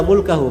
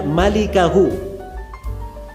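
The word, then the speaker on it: مالكه: Itu bukan bacanya illa mulkahu. Memang mim lam kaf ha. Tapi bukan mulkahu bacanya. Bacanya illa malikahu. Cara bacanya malikahu artinya pemilik wajah.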